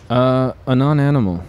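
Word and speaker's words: Anonanimal: Now it's a non-animal and an animal, ano-animal. I've heard people pronounce it all different ways. A non-animal is what I say.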